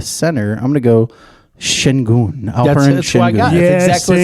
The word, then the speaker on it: Şengün: Şengün. Şengün.